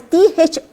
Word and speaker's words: thorough: Okay, another one is T-H-O-R-O-U-G-H. The pronunciation, it is pronounced as thorough.